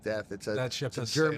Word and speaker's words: Deth: Deth. It's a German name, Diet.